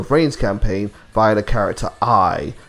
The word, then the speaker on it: Ai: campaign via the character I. It says AI but it's pronounced I.